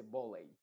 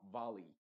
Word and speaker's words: valley: No se dice volley, sino valley. Entonces es muy, muy importante que tú te sepas esta pronunciación.